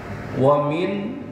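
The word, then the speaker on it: ومنهم: makhrajul huruf dan tajwidnya Wamin nun mati ketemu ha disebut dengan izhar Izar itu jelas jadi Wamin jelas bukan ditahan Wamin Bukan tapi jelas Wamin nunnya jelas dibacanya Wamin Hum p h besar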